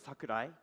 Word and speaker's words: Sakurai: shake also Sakurai uh my family name is Sakurai Sakurai and Samurai they have similar pronunciation right at Japan the